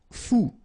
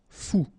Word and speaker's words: fou: Fou. Combination of O and U. Ou. Fou.